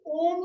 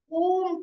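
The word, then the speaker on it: ॐ: दोनों हाथों को ज्ञान मुद्रा में लाए और 11 बार हम ओम का उच्चारण करेंगे। अ उ और म पहले आप मुझे देखें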